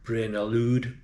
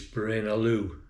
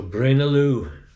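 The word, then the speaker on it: Braine-l'Alleud: been trying to say brain alude brain alude but it's brain Aloo you don't pronounce the d so Brin Aloo the nearest town to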